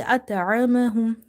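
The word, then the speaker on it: أطعمهم: Ta is from the musta'liyah letters. Okay? Among 29 Arabic alphabets, seven letters are heavy letters, which are called musta'liyah letters. And they are heavy under any condition. So, that's why ta is heavy. Ta is not ta. It's ta ta.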